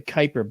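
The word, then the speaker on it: Kuiper: Pluto a planet okay we have uh the Kyper belt that's spelled Ki p r and that's the realm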